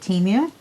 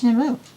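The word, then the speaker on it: Temu: going with their pronunciation I called it Teemu everybody I know called it teu but apparently it's timu I don't no I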